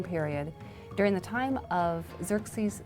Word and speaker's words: Xerxes: His Persian name, in Old Persian, which is his original native language, is Shayarsha. Now that was hard for the Jews to pronounce, so they said Ahasuerus. We know him as Ahasuerus. And the Greeks said Xerxes, which is Xerxes, okay?